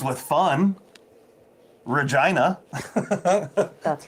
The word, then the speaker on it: Regina: town name ever rhymes with fun. Regina.